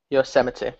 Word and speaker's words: Yosemite: Basically what's happening now is they've iOS 7ified Yosemite.